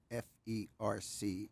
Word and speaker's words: FERC: Commission which an abbreviation is all caps f-e-r-c and it's pronounced ferc and the American Institute